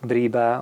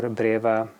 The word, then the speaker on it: breba: first scrap of figs some people say breba or braa they all the same I just like to pronounce mine Brea and here in my